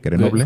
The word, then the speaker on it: Grenoble: Lo único que sabemos es que nace en Grenoble, ¿se pronuncia bien? Grenoble, Sí, Grenoble.